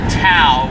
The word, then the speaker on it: Tao: Actually, the T in Tao should be pronounced as a D.